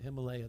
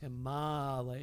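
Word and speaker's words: Himālaya: So if you hear somebody pronouncing it Himalaya, that's not right. It's Himalaya. You have to follow the vowels. Short has to be pronounced short, and long has to be pronounced long, or else you're missing the plate.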